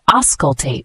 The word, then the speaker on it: auscultate: The word auscultate, spelled A-U-S-C-U-L-T-A-T-E. It's a verb, pronounced auscultate.